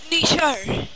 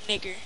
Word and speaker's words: Niger: Niger. That's how you say it. It's not Niger or nigger. It's Niger.